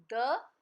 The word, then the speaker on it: the: जब भी vowel sound होगी उसके बाद तो हम बोलेंगे दी, और जब कंसोनेंट साउंड होगी तो हम क्या बोलेंगे? द.